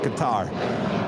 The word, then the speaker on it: Qatar: out how was the correct way to say Qatar it's a guitar there was many different